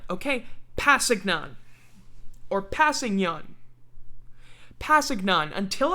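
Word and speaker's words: Kpassagnon: tano from now on that k is silent okay pasignon or passing young pasignon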